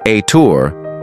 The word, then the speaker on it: Ethur: the th people pronounced aour live in northeastern Uganda